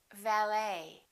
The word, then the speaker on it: valet: ballet we say ballet a few more ET endings bouquet like a bouquet of flowers Buffet valet and one more Chevrolet we